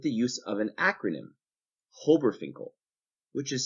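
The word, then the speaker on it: HOBRFINCL: These diatomic molecules can best be remembered with the use of an acronym, Hobberfinkel, which is spelt H-O-B-R-F-I-N-C-L, Hobberfinkel.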